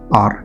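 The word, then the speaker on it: hour: या ये वाला देखिए, हावर का भी नहीं कहते हैं हम, इसे पढ़ते हैं हम लोग एन आर।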